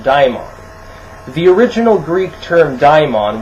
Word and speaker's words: daimon: It originally was spelled with an A. It was D-A-E-M-O-N, daimon.